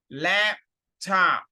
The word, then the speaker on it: laptop: خلي بالك ده آخر حرف P مش بتنطق قوي نوس انت بتحط بقك عشان تقول الحرف P بس مش هتفتح بقك فمش هيجيب لا بس قول لا واقفل بقك لا top laptop laptop I he she it